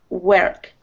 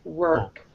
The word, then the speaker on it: work: Now, really, your R, you're sort of doing like work. It's sort of air sound, and it should be an R sound. Work.